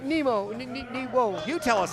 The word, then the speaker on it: Nemo: Not Nero, but Nemo.